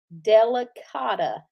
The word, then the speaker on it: delicata: Well, just think of it like this. Terracotta. Delicata.